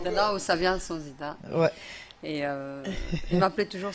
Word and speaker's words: Sonzita: Et à nos côtés, nous avons une chanteuse, comédienne, je prononce bien, Sonzita, Tout à fait. tout court. Oui. C'est qui Bonjour. Sonzita?